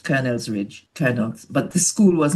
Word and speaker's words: Colonel's Ridge: It's spelled C O L O N E L S. That's right. Colonel's Ridge.